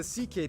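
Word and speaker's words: Székely: all went down then we get to the CK people the second most populous minority yes that's how you pronounce it basically cousins of the hungarians these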